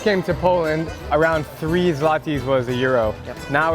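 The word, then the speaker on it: złoty: This is Polish Zlati. Did I say it right? Zlati.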